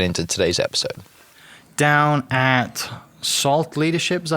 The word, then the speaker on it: SALLT: Down at SALLT Leadership, is that how you say it?